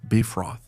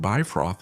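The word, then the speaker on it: Bifröst: wow, but they said Bifrost is Bifrost. Surprisingly, they're right about that, okay? Because according to modern Icelandic, which, if I'm not mistaken, is the language closest to Old Norse, Bifrost, in quotes, is pronounced like that.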